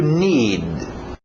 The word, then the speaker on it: need: To need. To need. Engole aquele D no final.